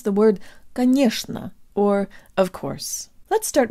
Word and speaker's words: конечно: I'm and today you'll learn how to pronounce the word ghanoush nough or of course let's start with the middle